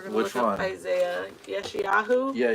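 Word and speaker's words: ישעיהו: I don't know how to pronounce it. We're going to look up Isaiah. Yeshayahu? Yeah, Yeshayahu.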